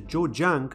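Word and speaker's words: Zhejiang: that there's a plan in China's Coastal Province jojang as that's how it's pronounced to build a 20.7 billion dollar metaverse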